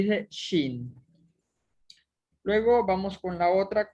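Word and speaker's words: שִׁין: Luego sigue la consonante shin, que es en este caso una shin y una jirik malé, forma la sílaba shi. Y al final está una nun final que suena como N y dice shin.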